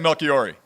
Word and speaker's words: Melchiorri: I said it's Melchiorri. Melchiorri, man. Yeah. Pronounce it for us, Anthony. So how are you saying it? I was saying Melchiorri.